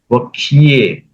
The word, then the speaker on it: वक्ष्ये: वक्ष्ये, वक्ष्ये, ये करो, वक्ष्ये। वक्ष्ये। हाँ, वक्ष्ये। वक्ष्ये। वक्ष्य होने से वक्ष्ये। क और एकार आएगा।